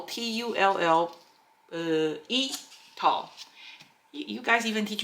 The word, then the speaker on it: tulle: So this is the one they call Tulle, T-U-L-L-E, Tulle. You guys even teach me how to pronounce that one.